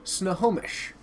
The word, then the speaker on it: Snohomish: Powers, it is pronounced Snohomish.